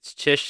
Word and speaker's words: Czysz: It's Chish. It's spelled CzYsz. Mm, My family goes around with the joke that it's Johnson. All the letters are silent.